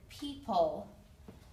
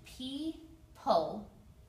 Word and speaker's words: people: Next is the word people. There's actually a silent O and a silent E at the end. People, two syllables, people.